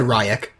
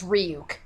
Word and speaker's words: Ryuk: Also, he said Ryak. Ryuk, oh. Yeah, even but worse. yeah, in Japanese it's Ryuk.